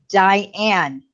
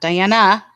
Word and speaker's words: Diane: But And for the record, my name is Diane. period. That's her name, not Diana. Not Or Diana anything that, or or not, and anything that rhymes with that. nothing that rhymes like that with Yes. that word, with that name. It is Diane.